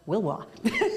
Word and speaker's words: Willois: Which is pronounced Wilwa, which he told me.